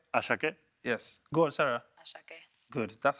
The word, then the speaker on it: Ashake: Say Ashake. Ashake. No, they don't say with a British accent. Say Ashake. Oh, the Ashake. Say it. Go on. Say it again. Ashake. Ashake. Yes. Go on, Sarah. Ashake.